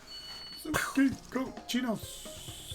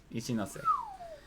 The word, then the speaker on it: Ichinose: Sukiko chinos. Sukiko chinos. Close. Remember, it is Japanese, so the last syllable is pronounced. Chinose? Yes. Ichinose.